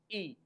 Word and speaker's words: y: वा वा इ एंड प्रोनंसिएशन ऑफ वाई इ ई एंड the meaning of